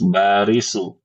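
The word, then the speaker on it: باريس: Kalau Paris barisu ya. Baris. Baris. Kalau Paris.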